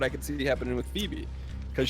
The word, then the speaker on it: Phoebe: could see happening with Phoebe, because she's got 2 syllables in her name, a Fee and a B.